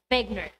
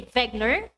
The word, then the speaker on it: Wegener: since he is a german his surname is pronounced as wegner can you repeat it can you say vagner right good job so alfred wegner is expert